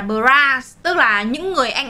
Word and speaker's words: Bros: Không phải đọc là Bros đâu, mà là Bras.